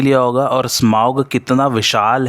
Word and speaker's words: Smaug: करने जा रहा हूँ ड्रैगन स्मॉग के बारे में, या यूँ कहिए इसका जो करेक्ट प्रोनाउंसिएशन है वो है स्माउग।